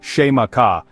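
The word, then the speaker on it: Xaymaca: The name the Tino people gave to their island home was Zaka, pronounced sheaka.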